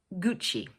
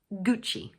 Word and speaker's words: Gucci: In English we pronounce it 'Gucci'. So the word has two syllables and the first one is stressed like this: 'Gucci'.